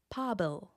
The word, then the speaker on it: pobail: In the genitive case, it becomes pábil. The I that was added makes the final sound slender, with a lighter and brighter Then it also gets lenited, making that first consonant f.